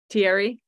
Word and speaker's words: Thierry: Thierry? Yeah, it's like Sierra, but with a T.